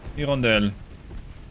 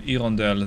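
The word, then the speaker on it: Hirondelle: there you go so Irondale sorry Irondale they don't pronounce the h let me introduce you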